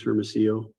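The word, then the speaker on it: Hermosillo: may inquire when you're ready thank you mr hermeso will you state your name and spell it for the court ray dennis firmacio h-e-r-m-o-s-i-l-l-o thank you what is your current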